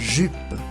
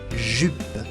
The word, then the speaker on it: jupe: La J en francés se dice J y se pronuncia como una doble L argentina. Une jupe. Una falda. Une jupe.